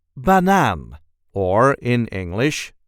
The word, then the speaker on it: banaan: see how to pronounce banan or in English banana. This is the way we say banan. Banan. There is a light emphasis on the last syllable.